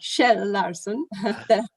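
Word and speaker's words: Kjell Larsson: there yes i see sorry i'm sorry for mispronouncing your name which is actually shel larson whom i'm happy to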